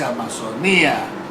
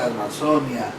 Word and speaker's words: Amazonia: Chiquitania, no sé si es Amazonía, se dice Amazonia, usted dice Francia, Alemania, me dice, ¿no?